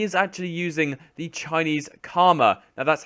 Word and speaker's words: Kama: However, he is actually using the Chinese Kama. Now, that's how you pronounce it.